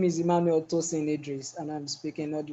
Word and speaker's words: Emmanuel Tosin Idris: to hi my name is my name is Emmanuel tosin Idris and I'm speaking all the way from Nigeria